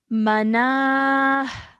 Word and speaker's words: مناه: Okay, so this would change into a ha sakin, and we would say mana. مناه Good, well done. Okay, stretching the na for 2 seconds and having a h sound at the end.